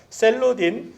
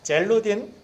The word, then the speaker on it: 젤룻: 들어가 열심당이라는 단어가 나와 있지 않지만 여기 아래쪽에 보면 셀로딘 시몬이라고 이렇게 적혀 있는 단어를 볼 수 있습니다. 셀로딘 정확한 발음으로는 젤룻이라고 그렇게 부릅니다. 젤룻인 이 시몬이라는 사람, 이 젤룻이라는 말이 열심이라는 말입니다.